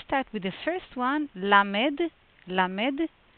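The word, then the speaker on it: למד: Let's start with the first one, lamed. Lamed. Pronunciation very simple. Le. Very close to light. It's not so deep as in English.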